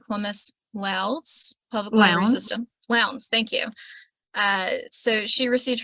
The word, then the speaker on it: Lowndes: So Mona Vance-Ali is the archivist for the local history department at the I'm going to mispronounce it, Columbus-Lowndes Public Library Lounge. System. Lowndes, thank you.